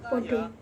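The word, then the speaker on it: padha: Seperti contohnya, podo, P-A-D-H-A. Dalam dialek Tegal tetap diucapkan pada, seperti pengucapan bahasa Indonesia. Tidak seperti bahasa Jawa Wetanan, seperti Jogja, Surakarta, dan sekitarnya yang mengucapkan podo.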